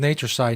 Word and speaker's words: Natureside: If you listen to the audio version of the show, Side is spelled C-I-D-E, as in pesticide, but not pesticides.